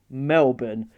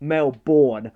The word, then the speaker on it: Melbourne: in Melbourne Australia yes it's pronounced Melbourne not Melborn like a lot of Americans speak and just to clarify